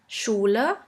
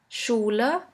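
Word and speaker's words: Schule: at a few examples in English you would simply pronounce it like in the word sheep sheep and in German we have the word Shula Shula which means school the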